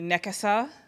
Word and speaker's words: Nekessa: so nakasa which i actually mispronounced my names because i speak english i i mean english is my first language but my middle name is supposed to be nakasa and my last name is but i am not used to pronouncing it that way and i have other